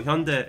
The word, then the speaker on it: Hyundai: you see their marketings, like they pronounce it Hyundai. Yeah. At least I don't. At least some people like they say Hyundai, so at least it's not that, right? So Hyundai is how you pronounce it.